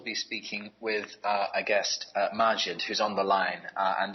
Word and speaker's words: Majd: Yes, it's Majd, not Majd.